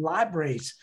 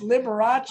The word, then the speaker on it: Liberace: thank you so much we called them libraries because i don't know how to pronounce his name but i don't know it's liberace not vibration that's awesome oh my